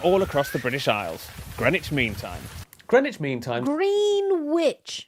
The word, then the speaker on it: Greenwich: This is the East London suburb of Greenwich, where you don't pronounce the W or one of the E. And right here is the place where British standard time was standardized since 11 o'clock. Green witch.